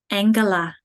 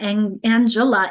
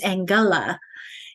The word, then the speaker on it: Angela: So we're pronouncing it g before an E like they do in German. And so it's not Angela, it's Angela, like in girl and get.